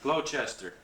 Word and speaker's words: Gloucester: Gloucester. Gloucester. Gloucester. Yeah. Okay, Gloucester. Dory hand lining. Yeah. Was married in 1919. The following year, went to Lunenburg, made a broker, 1921, back in Gloucester.